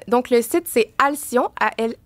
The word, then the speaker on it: Alcyon: Puis c'est à ça ça aussi que les gens et Alion il faut que vous expliquiez pourquoi le nom.